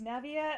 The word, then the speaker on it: Navia: into an argument about how to pronounce this main City's name I think not it's Navia and no one's changing